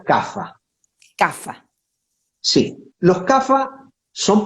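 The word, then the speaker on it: Kapha: que se denomina café se escribe capa con cabe kilo p h ah pero se pronuncia café café si los café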